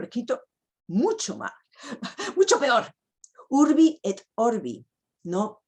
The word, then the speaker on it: urbi et orbi: Urbi et orbi, no urbi et orbe.